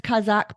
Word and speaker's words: Kazakh: such amazing work Lauren did I pronounce Kazakh properly you did that was perfect I'm I'm thrilled I'm